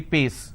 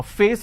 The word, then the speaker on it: face: There are some people who cannot pronounce the per sound, they replace that with the fur sound. For example, if I have a word which is face, they replace that and say pace.